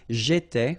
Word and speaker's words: j'étais: J'étais, okay? Remember, here we've got accent aigu, so it goes like et, all right?